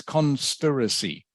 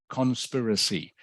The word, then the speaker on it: conspiracy: word in this word the I is pronounced very short like an e sound so it's conspiracy conspiracy can you say it